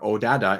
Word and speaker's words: Oddada: this event starts and aada or odada is one of them it's o d da that's how it's spelled so it's really hard